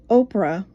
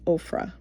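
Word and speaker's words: Ophrah: And there came an angel of the Lord and sat under an oak which was in Oprah. Ofra, I believe that's pronounced Ofra.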